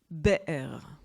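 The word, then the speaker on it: באר: Et je voudrais qu'on s'intéresse une seconde au mot « be'er » en hébreu. Le mot puits, vous voyez, ça s'écrit Bet, Aleph, Resh.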